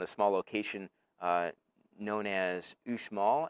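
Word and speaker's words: Uxmal: small location known as ushmall i think is how it's pronounced um ux mal and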